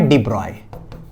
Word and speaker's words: de Broglie: लिखा जाता है लेकिन इनका जो रियल नाम जो प्रोनंसिएशन है ना वो है डिब्रॉय ब्रॉय बी आर ओ वाई ब्रॉय ठीक है तो प्रोनाउंसड एस डिब्रॉय डिब्रॉय डिब्रॉय तो कोई बात नहीं चाहे डिब्रो गली बोल दो बेटा डिब्रॉय बोल दे लेकिन आप लोग हमेशा यही बोलना डिब्रॉय ठीक हां जो है